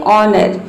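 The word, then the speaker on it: honor: जैसे कि यहाँ पे देखिए एग्जाम्पल है ऑनर, इसमें एच के बाद क्या आया है, ओ आया है, तो इसमें ओ जो है वह साइलेंट है।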